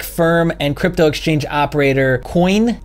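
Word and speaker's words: Quoine: and crypto exchange operator coin I believe is how it's pronounced even though it's qu o ine has said he believes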